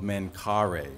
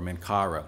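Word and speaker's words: Menkaure: believe that he may be the son of mencare or mencara depending on how you want to pronounce it but the pharaoh that built the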